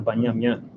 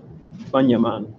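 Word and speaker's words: בנימן: Like here it's just Banyaman, not Banyam yan. Right, Banyaman. You just have Banyaman, you don't have Banyam yan.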